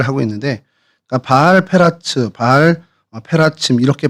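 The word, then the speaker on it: בעל פרצים: 그래서 바알 브라심은 이제 페라침 페라츠라는 단어에서 이제 불라심으로 저희가 이렇게 표기를 하고 있는데 그니까 바알 페라츠 바알 어 페라침 이렇게 발음을 하는게 이제 원어의 발음이고요.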